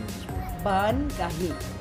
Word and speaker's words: Baan Kaahi: We wanted to bring, first of all, please tell us the right pronunciation of this word. Baan Kaahi. Baan Kaahi.